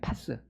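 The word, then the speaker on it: πᾶς: 발음이 파스. 예. 아이고 아파라. 아이고 아파라. 이게 붙이는 파스랑 발음이 똑같은데이 파스는 통전적인 의미가 있어요.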